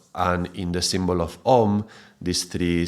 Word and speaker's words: Om: Yeah, so in this case, the sandhi, this union of sound going from the A to the U, that is pronounced as an O. So if you read in Wikipedia, it will talk about how through the normal rules of Sanskrit grammar, then this would be pronounced as a O, like a long vowel O.